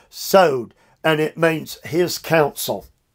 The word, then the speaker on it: sod: what is god's secret the word is sowed it's spelled sod sowed and it means his